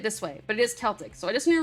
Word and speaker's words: Celtic: And Patricia said I didn't say it right before, so I need to say it this way, but it is Celtic.